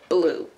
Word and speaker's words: Bleu: Blue. That is his name. Blue Cheese Calloway. We spell it B-L-E-U.